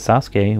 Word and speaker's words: Sasuke: But we have to pronounce it, yet when there is a U in a name like with Sasuke, we don't pronounce it.